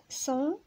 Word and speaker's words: sens: هنا عندنا S A N S كتنطق صون، هنا S A N G كتنطق صون، وهنا C E N T كتنطق صون، وهنا S E N S صون، وهنا S E N T صون.